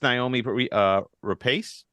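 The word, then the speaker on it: Noomi Rapace: So, and it starts Naomi Rapace. Is how you say her name.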